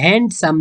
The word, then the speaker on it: handsome: په دې handsome کې دا ډي سایلنټ ده نه تلفظ کېږي. handsome نه ویل کېږي. تلفظ یې ده handsome.